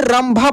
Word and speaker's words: रंभा: भा, तो ये देखिए र के ऊपर जो बिंदी है ना ये म के रूप में पढ़ा जा रहा है। पढ़कर देखिए दोस्त इसको आप पढ़ेंगे ना उच्चारण करेंगे तो ये रंभा पढ़ाएगा, क्या पढ़ाएगा रंभा।